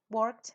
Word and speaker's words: worked: Janet dice I worked worked entonces termina en K se pronuncia con t i worked lo voy a escribir